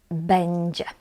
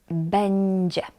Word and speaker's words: będzie: This word we pronounce będzie. Będzie.